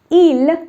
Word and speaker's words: il: Il looks like il. Now I'm not saying il looks like ils, okay, because the last letter is not pronounced. Both of them are pronounced the same way.